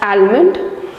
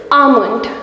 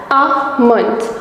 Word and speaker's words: almond: Will you call it as almond or almond? Actually, both the pronunciations are incorrect. The correct pronunciation of this word is almond. Yes, the L in this word is silent, so you pronounce this word as almond.